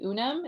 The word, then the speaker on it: Unum: Instagram I would say UNAM which is spelled Unum that one is great